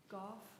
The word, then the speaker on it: Goff: Um, where it should be on my docket and I said go, but it's actually golf. His wife made sure that we pronounced that correctly. Goff. Yes, your golf like cough.